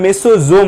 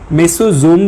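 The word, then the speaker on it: Mesosome: আচ্ছা, মেসোসোম আর মেসোজোম নামের মধ্যে কোনো পার্থক্য নেই, সেম কথাই।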